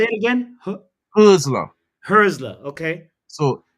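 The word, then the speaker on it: Hürzeler: that's how it's pronounced the umlaut, Yeah, you right? say it again? Husler. Herzler.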